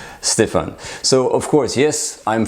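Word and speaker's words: Stéphane: sounds a bit like Stephanie but it's actually pronounce Stefan so of course yes I'm French I'm born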